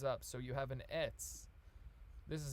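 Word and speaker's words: עץ: bent it straightens up so you have an etz this is how you say tree in hebrew pronounced it's and it's looks exactly like what an etz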